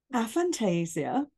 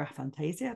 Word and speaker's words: aphantasia: you know about it so a Fantasia or a Fantasia depending on how you say it I prefer a Fantasia that's just uh for